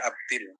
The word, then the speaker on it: Abdul: Jadi kalau Abdul itu dibaca Abdil, kalau diteruskan Muhammad bin Abdullah bin Abdul Muttalib bin Hashim bin Abdi Manaf bin Qusay bin Kilab. Jadi bin itu kalau setelah bin itu til.